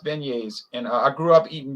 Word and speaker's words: beignets: up yeah it looks like it looks like big nets the the word spells out beg nets b e but it it's pronounced beignets and i grew up eating beignets and then